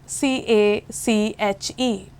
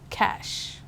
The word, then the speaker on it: cache: take an another word c a c h e usually people call it cache but it is just cash espresso it's an espresso